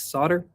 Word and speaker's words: solder: learn some new skills, trying to learn how to solder or solder, right? I don't know how they say it in different countries. Apparently in America, it's solder.